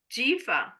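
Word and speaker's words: ג'יפה: Jifa sounds like giraffe, but without the R.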